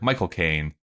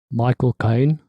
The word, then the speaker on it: Michael Caine: hallstrom written by john irving starring tobey maguire michael kane how do you say it michael caine there we go i'm practicing charlie and charlize